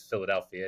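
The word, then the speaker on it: Filadelfia: And yeah, it's weird that it's Philadelphia. It's spelled in a Spanish way, but it's pronounced the same as the city in the States.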